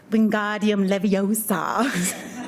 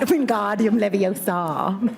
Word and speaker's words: Wingardium Leviosa: And so just to further be a nerd, it is pronounced Wingardium Leviosa, not Wingardium Leviosa.